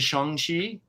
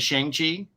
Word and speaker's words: Shang-Chi: I think the more accurate pronunciation is Shang-Chi, but when I was a kid, it was Shang-Chi. It's true. It does But have I'm an A. say what? It does have an A in the name. Yeah, but if it's a Chinese name, it's the A is not the hard A.